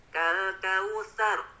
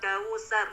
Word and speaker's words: kautsar: Nah, pertama di ayat 1 Pak, di huruf sa yang fathah, kautsar, sar. Nah, bacanya itu digigit Pak ujung lidahnya. Sar. Nah, tidak boleh sampai tidak digigit, nanti berubah menjadi huruf sin. Kal kausar.